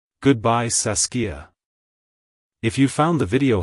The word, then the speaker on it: Saskia: to pronounce it correctly emphasize the a sound in the middle and end with a soft a at the end like Hello saskia Goodbye saskia if you found the